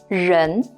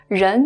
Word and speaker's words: 人: This component by itself is a character that's pronounced as 人. 人. 人 means person. Person. 人.